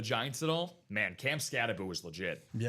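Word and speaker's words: Skattebo: Cam Scataboo reminds me of the same way. Scataboo. Yeah. Mr. Cam Scaboo. Mr. Scataboo. Even though it's spelled Scatabo, it's pronounced Scataboo.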